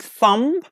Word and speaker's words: thumb: let's check our answers like thumb we don't pronounce be here thumb okay some some so